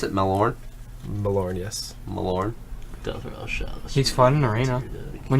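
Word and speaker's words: Malorne: T that's Legend is awful how do you pronounce it malor malor yes malor he's fun in Arena when you get him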